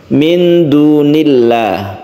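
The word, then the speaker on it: مِن دُونِ اللَّهِ: jalalah disebut lafaz kemuliaan apabila lafaz Allah ini didahului dengan kasrah maka membacanya disebut tarqik atau tipis minunillah Bukan dunillah tapi min dunillah maka disebut dengan tarqik atau muraqqaq itu di dalam lafzul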